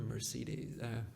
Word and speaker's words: Mercedes: buy a BMW or Mercedes? Merc how do you say that? Mercedes. Mercedes. Yeah. It's a little bit different than French. Okay.